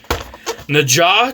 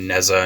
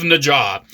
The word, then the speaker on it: Nezha: So this uh Na Transformers and yes it is pronounced Na at least you know in in Mandarin. I see a lot of people saying Neza Naza.